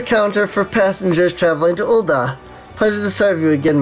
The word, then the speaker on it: Ul'dah: Like they make a big, the da is always, like extra pronounced. Ul'dah, the steps of Nald. And with that, we now have access to all 3 of the city-states. Emphasis on da! Yes. Big emphasis on da.